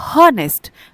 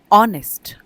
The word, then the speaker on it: honest: अब देखिए ऑनेस्ट, इसको हम HONEST स्पेलिंग होती है, कोई पढ़ेगा तो उसको पढ़ेगा हॉनेस्ट, बट नहीं, यहाँ पर H साइलेंट होता है तो इसको हम बोलते हैं ऑनेस्ट।